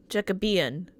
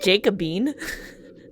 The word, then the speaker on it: Jacobean: How to pronounce Jacobean? Jacobean. It should be Hold Jacobian. on. Jacobean. Jacobean. Eh? Jacobean. That's how you pronounce that, apparently. I... In any case, It's not Jacobine.